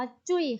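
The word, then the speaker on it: 最: บท นี้ นะ คะ ออก เสียง ว่า จุ้ย ค่ะ จุ้ย ตัว นี้ ออก สอบ แน่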